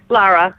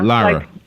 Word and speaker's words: Lara: So tell us a little bit about Laura. Am I saying it right? Lara, yeah. Lara.